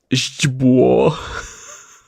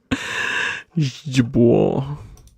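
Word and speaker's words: źdźbło: Oh god, I can't believe this is Jibwo. Jibwo. Believe it or not, this is one syllable.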